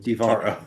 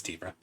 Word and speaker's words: Tivara: It's pronounced Tivara. It's Tivara.